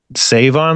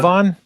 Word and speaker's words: Sevon: How are you supposed to say it? You know how to say it? Save on like the store? Anyway, I'm getting Isn't it bogged down. Sevon? That's how you say it.